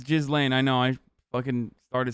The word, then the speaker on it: Ghislaine: Yeah, it's Ghislaine.